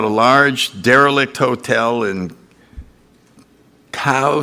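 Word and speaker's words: Caux: large derelict hotel in cow switzerland is that how you pronounce that co cow c-a-u-x co co okay and that's still one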